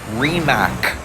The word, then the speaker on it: Rimac: actual CEO who says the name of this company is remac he decided to go with the international pronunciation because that's what you